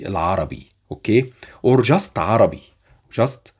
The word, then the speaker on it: العربي: Arabic, we say Al-Arabi, Al-Arabi, or اللغة العربية. But it's more common to say Al-Arabi, okay?